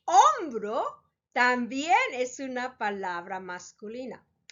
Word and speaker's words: hombro: Spanish: hambre, hombre, and hombro. As you can see, they are very similar in their spelling. All 3 start with an H, H, which in Spanish, remember, the H is silent.